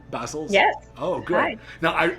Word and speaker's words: Bassols: right welcome to the show i have johanna basil is my pronouncing that correctly basil's yes oh great now i i hear a